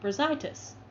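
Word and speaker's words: Brazaitis: Bra, as in the clothing. Zai, as in what you see out of it. Tis, as tis the season. Brazitis.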